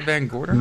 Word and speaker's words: VanGorder: VanGorder?